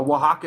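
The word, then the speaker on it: Oaxaca: I I'm telling you a Waka is not spelled with an X I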